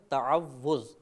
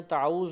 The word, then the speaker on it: تعوذ: مبتلا ہو جاتی ہے۔ صحیح لفظ ہے تعوذ، تفعل کے وزن پر۔ ہمارے بعض بھائی پڑھتے ہیں تعوذ و تسمیہ، تعوذ کہہ